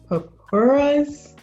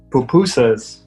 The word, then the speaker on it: pupusas: Papuras? Did I pronounce it correctly? Pupusas.